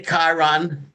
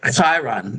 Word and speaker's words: Chiron: So we can say Chiron because that's what we're saying now. We can say caracllo which is basically the actual pronunciation. It's like a a cross between a ch and a k.